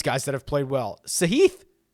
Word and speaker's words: Sahith: that have played well sahith sahith i believe is how he actually pronounces it so t3 in phoenix